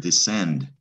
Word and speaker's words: descend: make a k sound but when the c is followed by an e that's going to be a soft c it's going to be an s it's almost like it's silent send so it's skender